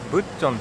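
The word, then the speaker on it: 북촌: がここですね北村神屋村と読むのかなブっチんっていう風に看語では言うらしいんですけど昨日のイクソンドンと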